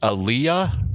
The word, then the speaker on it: Aaliyah: it had uh the singer i think it's pronounced aaliyah do you remember that the black girl from